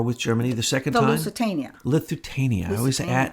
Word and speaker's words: Lusitania: false flags from the Lithuania. How do you say it? The boat they sank, to get us into the war with Germany the second time. Lusitania. I miss a syllable in there.